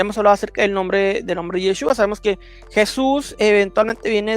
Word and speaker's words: Yeshua: un testigo de que no se pronuncia Yahshua ni todas estas variantes, personas que sinceramente no tienen noción de estos idiomas, y empiezan a decir Yahshua, Yahshua. No existe eso, no existe, y eso